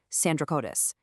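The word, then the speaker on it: Sandrocottus: this Indian king named Sandra Cotus. It was the British scholar William Jones who had this massive aha moment. He realized Sandra Cotus was literally just the Greek pronunciation of Chandra Gupta Moria.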